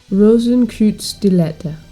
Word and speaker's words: Rosenkreuzstilette: five dollar games presents rosencrude stiletta thank you time Lugia for pronouncing that for me the game starts with